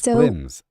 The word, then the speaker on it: Flims: Boom Boom Sugar Flums it is. No, it's Flims.